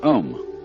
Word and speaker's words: Om: mantras is of course the sound ohm that sound is used because if you spell it out a U M it runs from the back of your throat to your lips and therefore it contains the whole range of the voice and for that reason